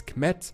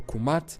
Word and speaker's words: Kemet: around the Nile River, pronounced as Kemet or Kumat in ancient Egyptian.